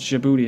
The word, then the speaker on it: Djibouti: I think this is Djibouti is how you pronounce it, a tiny impoverished nation just north of Somalia.